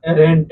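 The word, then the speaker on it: adherent: Word एडरेंट है ना एररेंट इसमें डी साइलेंट करके आप इसको पढ़ेंगे एररेंट है ना और इसका ये क्या होगा पार्ट्स ऑफ स्पीच आपका नाउन ाउन होगा।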